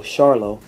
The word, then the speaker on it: Charlo: m e l l Charlo I forgot their their last name is pronounced with a sh Charlo charot was enrolled with